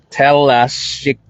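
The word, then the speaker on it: Telašćica: It is Talashika.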